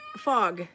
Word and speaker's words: fag: And then there is the word fag in Norwegian, which can be a subject matter. Subject matter, So, yeah, pronounce F-A-G differently anyway.